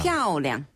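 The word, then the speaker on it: 漂亮: 피아오량. 피아오량. 피아오량. 그렇죠. 그래서 피아오량. 오랑 발음과 쩐 발음은 우리 청취자분께서 잘 기억하신 것 같아요. 네. 그리고 피아오는요. 위에서 아래로 뚝 떨어지는 음으로 피아오.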